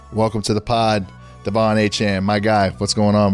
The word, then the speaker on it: Achane: I heard that my last name so many different ways, but it's pronounced Achane.